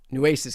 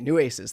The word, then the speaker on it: Nueces: Nueces County. Okay, Nueces. Thank you. Just like everybody giving me the phonetic pronunciation.